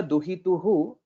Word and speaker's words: दुहितुः: करपल्लवेन So please note, so here it is duhituhu karapallavena, so the pronunciation will be duhituh karapallavena. So there will be a half hakara, that is the sound which we'll have to pronounce.